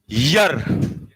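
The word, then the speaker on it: year: जो आज तक इसको ईयर कहते हुए आए थे, ईयर, पहले तो मैं इसे ही काट रहा हूं, क्योंकि ईयर काटा तभी तो मैंने क्या काट दिया? एन। इसका प्रोनाउंसिएशन अब मेरे साथ बोलो, यर।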